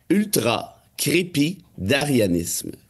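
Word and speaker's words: ultracrépidarianisme: Le mot, c'est ultra-crépidarianisme.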